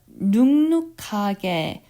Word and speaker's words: 눅눅하게: Nuk by itself, when you pronounce it, it ends with a K ending, so nuk. However, when this one, nung-nuk, the first nuk has an NG sound because it's very difficult to pronounce it nuk-nuk, so you pronounce the first letter with the more softer sound, so it'll be nung-nuk.